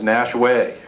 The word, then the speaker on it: Nashua: Some of you may or may not know that at least the old pronunciation where I'm from was Nashway. And that still is by the folks who lived there the longest, the pronunciation, Nashway.